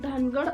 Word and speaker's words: धानगड: 36 वर ओरांची उपजात धानगड दर्शवली आहे धानगड ही आदिवासी जमात असून तिचं इंग्रजीमध्ये स्पेलिंग धानगड असं होतं याचा चुकीचा अर्थ काढून महाराष्ट्रातील धनगर जातीचे लोक धानगडच्या स्पेलिंगचा उच्चार धनगड असा करत आहेत धनगडचा र ऐवजी ड